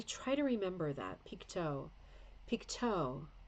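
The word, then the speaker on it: Pictou: try to remember that pikto pikto that's weird isn't it because it's not the French pronunciation either Piko interesting yeah Leah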